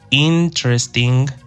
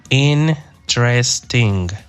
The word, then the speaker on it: interesting: I like interesting movies, but I don't like boring movies. Aquí un aspecto importante de pronunciación, interesting. Como 3 sílabas, it's a 3-syllable exercise or adjective in this case.